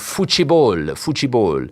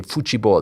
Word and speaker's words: futebol: Spain has conquered the world of futebol. I like to say it like the Portuguese do. They say futebol.